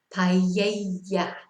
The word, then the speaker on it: paella: So it's more of a ja sound. Paella, silla. But what you mustn't say is paella or silla, you know. So either ya or ja is fine.